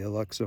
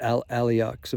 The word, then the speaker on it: Al-Aqsa: Hamas has said that their attack is in retaliation to the Alexa Mosque. I'm pronouncing that wrong. I got a mental block right now of but Al-Aqsa Mosque.